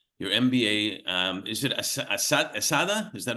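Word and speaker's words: ESADE: You got your your MBA um is it Asada? Is that how you pronounce it?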